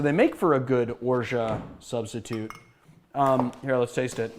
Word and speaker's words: orgeat: You say orgeat, and you don't pronounce the T. It's a French word, so it's orgeat.